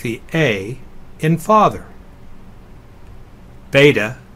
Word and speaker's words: beta: the a in father beta is next it sounds like the B in Bible gamma is a G